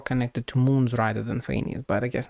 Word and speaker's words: Phanes: Also, now we know for sure that Seelies gained power directly from Phanes, which apparently is pronounced Phanes, uh rather than from